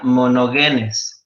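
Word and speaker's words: μονογενής: en el gen hito en el griego es o se pronuncia mono genes y quiere decir el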